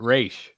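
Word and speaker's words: Ra's al Ghul: me talia's Dad yeah it says Dennis O'Neill created Roz and he pronounces it race oh we're starting fuel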